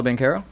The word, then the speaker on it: Banchero: That's not how you pronounced his name before. Paulo Banchero.